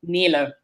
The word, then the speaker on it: Nele: worries about the pronunciation it's the right way to pronounce it would be Neela actually I'm not gonna try